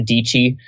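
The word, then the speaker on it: Dietschy: a girl named Sarah dii uh she rhymes with peachy rhymes with yeah you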